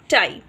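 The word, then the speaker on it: tie: सो द word will be प आई पाई, ट आई टाई। क्योंकि ई जो सेकेंड वावल है वो साइलेंट हो जाएगा और फर्स्ट वन अपना नेम पढ़ेगा।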